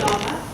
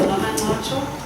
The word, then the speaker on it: Nomancotsho: Some people call me Noma, it's understandable. My name is Nomancotsho. It's a bit difficult to pronounce at times, but you're forgiven if you say Noma, so long as you also acknowledge there's a fuller version to it.